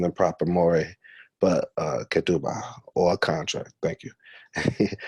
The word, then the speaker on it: ketubah: call Tituba say let me know if I'm pronouncing the proper Maury but ketubah or contract thank you hey y'all can see